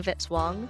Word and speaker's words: Vitzwang: Music by Kevin Vitzwang rhymes with hit song.